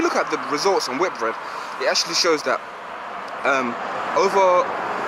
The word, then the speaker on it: Whitbread: It's actually pronounced Whitbread, and the performance was relatively decent.